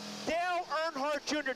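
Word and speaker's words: Dale Earnhardt Jr: you're going to hear a lot from him Dale nhart Jr did I pronounce that right yes you did good job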